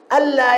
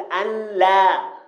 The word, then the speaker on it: ألا: أفلا يرون ألا، ألا هذا أصله هكذا أن لا، فقلبت النون الساكنة لاما وأدغمت في اللام، كما يعني كتبت كما ينطق بها إدغام كامل، نون ساكنة بعدها اللام تقلب لاما في النطق. لا يجوز أن أقول أن لا، الصواب ألا. أن لم خطأ، أقول إيه؟